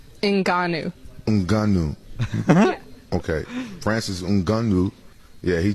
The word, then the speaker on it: Ngannou: I think I pronounced him Khabib Nigga Runoff. Francis, what's his name? Francis Ngannou. Francis Mugungu. Ngannou. Ngannou.